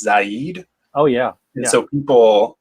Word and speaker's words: Zaid: It's pronounced Zaid.